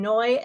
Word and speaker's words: Noy: I'm Noy, and it rhymes with joy.